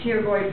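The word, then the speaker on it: pterygoid: plate of the fmo the teoy processes the p is silent right here p is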